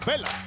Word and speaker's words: Bella: Acompañada por Brie, de un lugar calientísimo de Arizona, se llama Nikki Bella, que digo Bella, pero se escribe con dos L's.